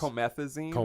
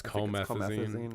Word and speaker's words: Comethazine: Comethazine. I think it's supposed to be like promethazine, but it's Comethazine.